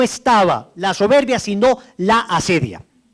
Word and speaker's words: acedia: La asedia. Entonces pongan ahí, el demonio de la asedia. Asedia se escribe A-C-E-D-I-A. Asedia. Como suena con C.